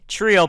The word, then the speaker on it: Treeo: but welcome ladies and gentlemen back to the trio podcast it is pronounced the trio podcast you could say Trio